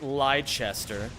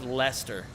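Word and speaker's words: Leicester: Next you're going to tell me it's not pronounced liester. and instead it's just pronounced Lester.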